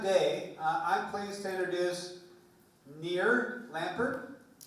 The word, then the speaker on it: Nir Lempert: So, to round out the day, I'm pleased to introduce Nir Lempert.